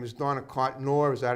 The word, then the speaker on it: Cotnoir: This young lady here, her name is Donna Cotnoir.